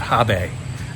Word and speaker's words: HB: see many places, including HB, which if you say it the right way, I think the Germans pronounce that Habe.